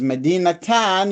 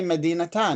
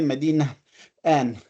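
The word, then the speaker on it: مدينةً: But with Medinatan, you must say Medinatan. You cannot say Medina an.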